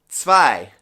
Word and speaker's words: zwei: The number 2 is said Zwei. So it's spelt with a Z, and the Z in German makes a TS sound, such as in the word guts. Also note the EI is making a long I sound again.